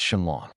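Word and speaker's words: Shenlong: Oh, and by the way, it's Shinlong. You obviously need to get better at reading those ancient manuscripts if you make such trivial pronunciation mistakes.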